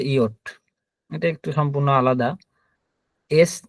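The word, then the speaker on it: Jot: Yacht, আমরা এটাকে ইংরেজিতে যে বলতাম, কিন্তু এটা হচ্ছে ইয়ট।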